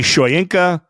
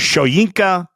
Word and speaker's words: Shoyinka: It's spelled like it should be Shoyinka. The pronunciation apparently is Shoyinka.